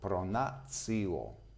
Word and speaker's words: pronatio: I'd like to remember you that these two letters we can pronounce not tio but cio, pronatio.